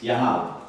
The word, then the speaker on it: Yahawah: not a a cuz the proper way to say it is yahwah right the technical way